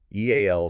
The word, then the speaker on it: EAL: EAL stands for the Eclectic Academy of Learning. And you pronounce it just like the letters E A L.